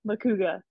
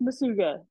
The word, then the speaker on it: Macuga: So looking at my name, it looks like Macuga, but pronounced Masuga by one of my coaches, Jay Hay, Park City.